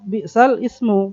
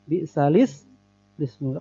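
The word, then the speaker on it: بِئْسَ الِاسْمُ: Dan sering orang baca bi'sal ismu, padahal itu bukan begitu bacanya. Bi'salis ismu.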